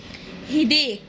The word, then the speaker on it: headache: sore throat، صداع headache، حرف الاتش بينطقه ه، وحرف السي بينطق كي، صوت الك، نكتب فوق السي كي. هيديك، صداع هيديك. حمى ممكن ننطقها بطريقتين، ممكن فيفر او فيفر.